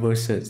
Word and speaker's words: versus: M2 versus M3 อ่า vs นี่ อ่าน ว่า versus เนาะ versus M2 versus